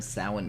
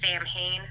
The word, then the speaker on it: Samhain: And Salon, it looks like it's pronounced Samhain, but it's Gaelic, and for whatever reason, the Gaelic people didn't use the same pronunciation we did.